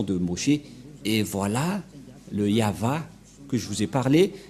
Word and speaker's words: Yahvah: V et et la prononciation de ceci c'est yava voilà la prononciation de ce terme lorsqu'on le prononce en